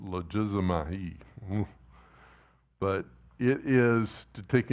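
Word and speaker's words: λογίζομαι: There's a Greek word here, logizomai, it's how it's pronounced, logizomai.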